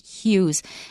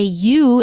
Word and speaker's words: hue: People who come from New York City, a certain group of people in the area, may say you instead of hue.